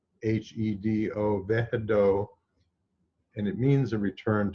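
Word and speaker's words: Wehedo: And the divine name associated with this is pronounced Vehedo, even though it's spelled with a W, W-E-H-E-D-O, Vehedo, and it means a return to the source.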